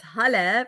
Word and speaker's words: Halle: Oh, it's Halle pronounced like Hallelujah.